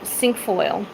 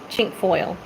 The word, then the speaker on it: cinquefoil: All right, cinquefoil. I call it chink foil. Chink foil is what I call it. Some people call it cinquefoil. Everybody has a different way of pronouncing it.